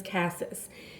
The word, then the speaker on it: cassis: I hear many people pronounce cassis as cassis. That is not right. That is cassis.